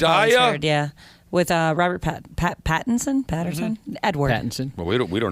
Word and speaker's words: Pattinson: Why are you having trouble with Pattinson? I keep thinking it's Patterson. That's why. Well, you're wrong.